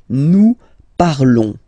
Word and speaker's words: parlons: Nous parlons, okay? Remember, final s is not pronounced, okay? And then this on together, they will give you the sound on, okay?